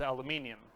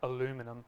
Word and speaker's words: aluminium: in there and that something is aluminium uh or aluminum As Americans say um so I'm just